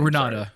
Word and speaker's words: Renate: How would you pronounce it? Ranata.